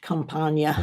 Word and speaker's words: Campagna: Campagna. There we go. John H. As he Campagna. always pointed out. He always pointed that out. Yeah, John Campagna.